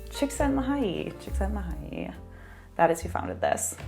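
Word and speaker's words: Csikszentmihalyi: now i will never forget how to say shiksen mahay that is who founded this all right so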